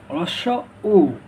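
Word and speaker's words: হ্রস্ব উ: চলো, রস্য উ, রস্য উ, রস্য উ এর সঠিক উচ্চারণ কি ভাইয়া? রস্য, এটাকে আমরা বলি রস্য রস্য, অনেকে বলে হস্য। এটা না, এটার সঠিক উচ্চারণ হবে রস্য উ, রস্য উ, রস্য উ, রস্য উ।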